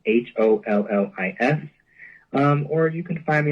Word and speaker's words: Hollis: My name is spelled like Hollister, but it's just Hollis.